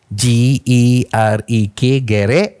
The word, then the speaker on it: gerek: yang dimaksudkan adalah gerek G E R E K Ejaannya ga ya G tetapi sebutannya gerek macam sedikit dan a bermakna basikal ataupun di Indonesia disebut sepeda kan.